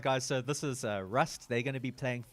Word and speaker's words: WRUST: watching, guys, this is Rust. Sorry, what's the right way to say it? Rust? No, it's just rust. Rust, Rust. as in rust. Just like Yeah. rust. Yeah, we just Yeah, added the yeah.